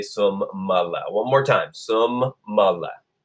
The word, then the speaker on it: male: and everybody say sum male. Remember, there's no silent E in Latin. You are going to pronounce that E. Say it again after me, everyone. Sum male.